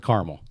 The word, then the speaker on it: Carmel: we start with carmel is it caramel or carmel how do you pronounce it carmel carmel new york um tell me about